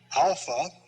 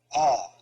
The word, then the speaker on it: alpha: this is the pronunciation in fact the first sound you make in saying alpha is the phonetic value of it so we say alpha ah then we say